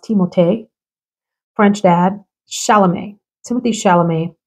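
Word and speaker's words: Timothée: that lead actor Timothy whose real name is pronounced teote French dad shalam Timothy shalam I mentioned that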